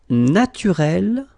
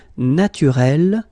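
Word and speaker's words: naturelle: Naturel, naturel. So here you can see that we write them differently, but then phonetically they are the same. Listen, naturel, naturel. Okay, same way of saying them.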